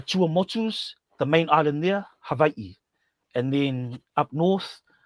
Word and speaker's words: Hawaii: In the Chuamotus, the main island there, Havi. And then up north what we call Hawaii properly pronounced havi.